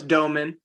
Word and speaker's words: Domann: No, it's Domann.